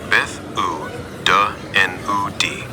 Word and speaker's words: Beth yw dy enw di: is said as "Beth yw dy enw di?" Pronunciation guide. "Beth yw dy enw di." Roughly pronounced as "Beth oo duh enw di."